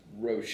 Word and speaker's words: Roche: So we're back in West Tampa again, and we have our special guest here with Roche.